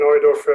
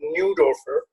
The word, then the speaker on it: Neudorfer: My name is Neudorfer, or as you Americans pronounce my name, Neudorfer.